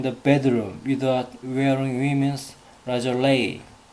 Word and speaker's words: lingerie: 란제리를 lingerie. 프랑스 발음입니다. 프랑스 발음.